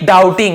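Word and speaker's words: doubting: गागीगे, क्या करोगे, keep डाउटिंग, यहां पर भी बी साइलेंट है, डाउटिंग होगा, डाउटिंग, आप हमेशा शक करते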